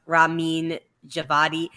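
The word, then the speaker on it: Ramin Djawadi: bringing us all together yes closer's name is pronounced rameen javadi my bad um but thank you for teaching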